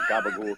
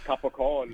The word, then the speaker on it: capicola: head is gabagool, but gabagool comes from capicola. Capicola, yeah. There's a reason why they say gabagool, obviously because of the Southern Italian dialects and pronunciation that turned into gabagool.